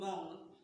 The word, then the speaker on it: wrong: Did we sound this? No, we didn't. We started from the second letter, which is what?